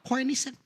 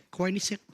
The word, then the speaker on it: Koenigsegg: Gue baru tahu cara bacanya kemarin. Apa? Koenigsegg. Mobil hypercar pas ini. Koenigsegg. Koenigsegg.